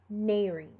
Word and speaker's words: nares: cholesterol or chemical, and E or ES at the end of a word are pronounced as a separate syllable. So syncope or nares.